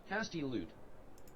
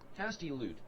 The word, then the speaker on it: hastilude: How to pronounce hostiludo? Hostiludo. Hostilida? How to pronounce hostilida? Wait, hold on. Define hostilida. Okay, fine. We'll go here. How do we pronounce it? No, hostilude. Okay. Hastilude. Hastilude.